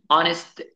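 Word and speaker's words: honest: ركز برضو ان في بعض الكلمات زي كلمه اونست مان تمام بتبدا بحروف سايلنت زي حرف الاتش وكلمه اور برضو بتبدا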